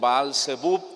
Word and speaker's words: Baal-Zebub: Pero él dice, vayan a Ecrón y consulten con Baal-Zebub o Beelzebú, cualquiera de las dos pronunciaciones es correcta.